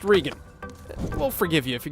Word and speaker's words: Regan: it's spelled regan but pronounced regan will forgive you if